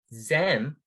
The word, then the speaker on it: zem: english alphabet letter z zem rhymes with english words them instead so i just